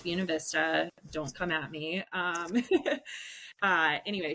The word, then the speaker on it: Buena Vista: It is pronounced Buena Vista.